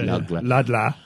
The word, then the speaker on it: Ludlow: It's not Ludlow, you see. It's Ludlow. Lug with a G.